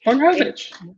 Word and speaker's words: Wojnarowicz: Wojnarowicz.